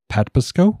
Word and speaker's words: Patapsco: over the mouth of the, I believe it's pronounced Patapsco River, at about 1:30 a.m.